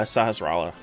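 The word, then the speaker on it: Sahasrahla: You can never pronounce Sassifras's name, so I always just called him Bob. Uh, Sahasalla is the is is the name is the pronunciation.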